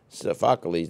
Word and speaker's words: Sophocles: The classic Greek tragedy, which we're talking about, was first created by Sophocles, did I say it right? Sophocles, right.